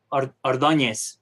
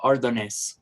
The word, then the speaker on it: Ordonez: Ordonez. Ordonez. Yeah, but I usually go for Ordonez because it's easier for like people from the States and Europe.